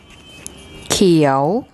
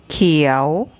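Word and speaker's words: เขียว: Now, if we add one of the K consonants, so we'll have an initial consonant called Kai, and Pom will tell you what that sounds like.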